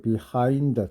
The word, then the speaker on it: behind: behind가 아니고 behind, 뒤에 액센트 있다고 해서 요거는 이제 단어 뜻이 뒤잖아요. 그래서 뒤라고 하는 단어, 뒤에 액센트가 있다, 이렇게 기억을 하라고 했습니다.